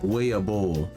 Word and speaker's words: weeaboo: If you were to pronounce this word the way it looks in Japanese, it probably sounds something like weeaboo. Now, this is because the double O sound in Japanese actually doesn't make the U sound. It just makes a long O sound.